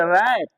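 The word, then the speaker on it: wrap: इस तरह से रैप मतलब लपेटना होता है, रैप, डब्लू साइलेंट होता है इसमें, रैप शब्द में।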